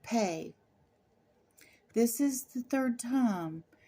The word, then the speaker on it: Pe: never takes a holiday so pay is sometimes pronounced P the symbol for ancient